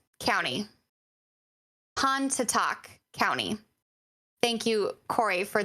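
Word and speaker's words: Pontotoc: of chickasaw yellow yellow busha again apologize for mispronunciation calhoun county pantatalk county and monroe county i'm waiting for cory's great with the yalubusha county han to talk county thank you corey for those those helpful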